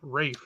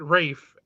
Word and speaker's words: Ralph: but they pronounce it Rafe.